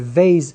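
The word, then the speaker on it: בית: a soft variation so let's say Bay's the letter Bay's can be pronounced as Bay's like a beat and it can be pronounced as Bay's which is a V so Bay's is the harsh pronunciation and Vaes is the light pronunciation there are seven Hebrew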